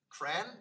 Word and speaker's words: CRAN: the idea of creating cran or C ran people are sort of little bit confused how to pronounce that because we just write it usually but it's modeled on